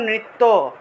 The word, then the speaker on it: নৃত্য: তারপর দেখুন নৃত্য, বাংলায় বললে নৃত্য, কিন্তু সংস্কৃত উচ্চারণটা হবে নৃত্যা নৃত্যা। ঠিক আছে? নৃত্যা।